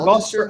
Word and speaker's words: Gloucester: Northeast uh Gloucester or you know how to say that word it's it's Gloucester I don't know whatever